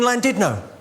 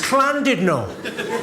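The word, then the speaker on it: Llandudno: It's clandidno. In Wales, the double L is pronounced with a C.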